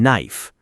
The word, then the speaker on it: knife: Like the K in knife.